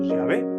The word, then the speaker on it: Yahvé: Esto lo vendríamos a traducir como Yahvé, que es el nombre personal de Dios, según la pronunciación más aceptada.